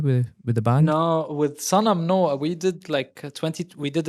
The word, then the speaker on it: Sanam: In Arabic, it's Sanam. Sanam.